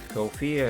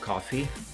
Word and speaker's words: Ko-fi: Actually, I think I have always been mispronouncing Kofi. I think that is actually supposed to be pronounced coffee.